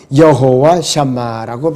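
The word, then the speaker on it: יהוה שמה: 여기서 히브리어는 발음이 여호와 샴마라고 발음을 합니다.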